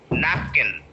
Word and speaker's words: napkin: Okay, so nap is the point where you have to break and you have to stress nap. Napkin. Napkin. Napkin. If you do the reverse, napkin. So that is wrong pronunciation.